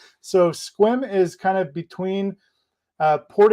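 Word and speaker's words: Sequim: but that's not how you pronounce it it's pronounced squim so squim is kind of between port angeles and port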